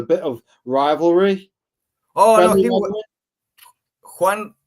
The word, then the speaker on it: Juan: Yeah, Juan. Juan Zanotto. Yeah, Zanotto. The J for us is like your H.